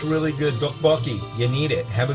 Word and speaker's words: Topokki: Is it Topokki? Topokki? Topokki? I said it like 5 times. And he's like, yeah, that's how you say it.